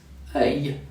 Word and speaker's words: œil: EUIL or OEIL are pronounced œil, like in feuille, a leaf, œil, an eye, or écureuil, a scroll.